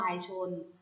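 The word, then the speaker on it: วายชนม์: ว่า วาย ชน ค่ะ วาย ชน อ่าน ว่า วาย ชนม์ วาย ชน ประกอบ ไป ด้วย วอ แหวน สะ หระ อา ยอ ยัก ช้าง นอน หนู มอ ม้า การันต์ ค่ะ วาย ชนม์ แต่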